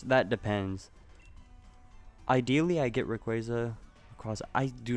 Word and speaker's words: Rayquaza: Okay, it's Rayquaza.